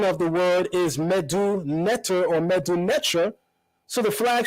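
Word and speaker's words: medu netjer: flag should be written last being that the pronunciation of the word is medu netter or medumetra so the flag should have been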